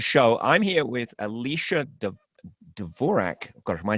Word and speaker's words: Dvorak: you could have been though no actually it's pronounced Dvorak but I don't do that because I'm from California we make up our own names for everything oh how do you pronounce it Dvorak Dvorak okay same name different pronunciation and if